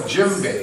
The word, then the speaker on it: djembe: This is called a djembe, and it's spelled D-J-E-M-B-E.